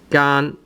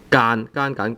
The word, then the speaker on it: 間: 間, sometimes this word actually has two different pronunciations. Sometimes you pronounce it as 間, tone 1. Sometimes you pronounce it as 間, tone 3.